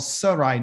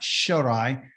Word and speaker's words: Sarai: your head okay this this sin right here the shin right here is called Sarai not shurai this means to turn